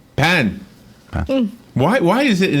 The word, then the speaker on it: pain: How's it pronounced? Pan.